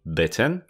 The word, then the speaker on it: bitten: i beaten beaten pobity i chciałbym zwrócić waszą uwagę na wymowę dwóch słówek ugryziony i pobity ugryziony krótkie i bitten i pobity długie i baten ktoś ma atak padaczki